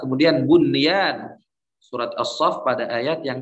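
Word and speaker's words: بنيان: Kemudian sinwan pada surat Ar-Ra'd ayat 4, kemudian bunyan surat As-Saff pada ayat yang ke-4. Ini bacanya bukan buyan, mentang-mentang nun sukun bertemu ya. Tidak, karena ini pada satu kata, maka ulama menghukuminya izhar mutlak.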